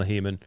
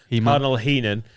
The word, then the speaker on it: Heenan: don't want to and cardinal heeman he men said it wrong heenan adam wilcome and he's